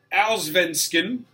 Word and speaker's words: Allsvenskan: You were struggling this morning with that pronunciation. Sweden, Allsvenskan, Norway, Eliteserien, and Denmark.